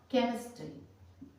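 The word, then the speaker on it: chemistry: केमिस्ट्री, केमिस्ट्री, ठीक है। सी के बाद एच आया, इस लेटर के बाद CWRG के बाद अगर एच आता है तो वो हमारा एच साइलेंट हो जाता है, जैसे केमिस्ट्री।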